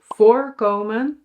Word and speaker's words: voorkomen: "overKOMEN" (to happen to) "VOORkomen" (to occur/appear) & "voorKOMEN" (to avoid/prevent) Okay, so these are six verbs with different meanings. Well, for example, let's look at "VOORkomen" (to occur) "voorKOMEN" (to prevent).